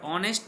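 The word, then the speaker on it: honest: यहां लिखा है the word ऑनेस्ट begins with ए silent H producing अ vowel sound अ सो एन is used.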